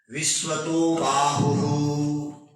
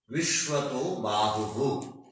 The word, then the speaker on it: विश्वतोबाहु: आगे शब्द आया विश्वतो बाहु विश्वतो बाहु वो विसर्ग है बाहु विश्वत विसर्ग है विश्वत बाहु उच्चारण ऐसा हो विसर्ग का उच्चारण आधा अक्षर के बराबर होता है वो क्या कहा विसर्ग